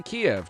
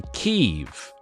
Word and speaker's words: Kyiv: I've noticed American newscasters say Kiev in the weirdest way. Right? We say Kiev, don't we? In England, we say Kiev. They don't say Kiev in America. They say Kyiv. Kyiv. It's very interesting.